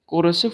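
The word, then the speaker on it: coercive: ठीक है, this फोर्स is called कोरेसिव फोर्स, कोरेसिव फोर्स, कोरेसिव की स्पेलिंग आपको नहीं दिख रही होगा तो COERICEVE,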